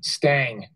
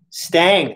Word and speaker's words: Stang: University of Wisconsin Sam Stang Stang that's how they pronounce it okay guy a star